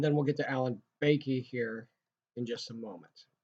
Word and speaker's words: Bakke: Now, I've had a couple different professors pronounce this different ways. Bach, Bakke, Bakey. I'm going to go with Bakey.